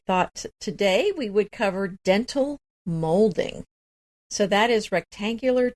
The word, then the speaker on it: dentil: And it's dental, DENTIL, but it actually... Oh, I didn't know that. But it actually refers to the look of teeth, which is DENTAL.